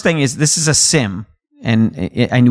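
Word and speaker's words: SIEM: So, first thing is this is a SIM and and we don't pronounce the E.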